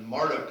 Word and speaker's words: Marduk: right moving right along Marduk or some pronounce it Marduk but Marduk is what I was taught was the chief god